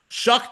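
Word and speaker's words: Shough: And I'm not kidding, that is how his name is pronounced. Shuck then proceeds to go 17 out of 30 for 128 with a pick of his own.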